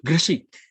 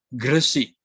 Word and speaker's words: Gresik: Orang Sunda menyebut Gresik. Tadi kalau orang Jawa Timur Gresik. Nah, beda sedikit lah pelafalannya.